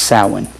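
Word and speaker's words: Samhain: S A M H A I N is pronounced sin.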